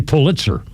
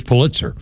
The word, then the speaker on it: Pulitzer: It's like Kennedy's in Massachusetts and the Pulitzer it's actually Pulitzer. The official name to pronounce it is Pulitzer.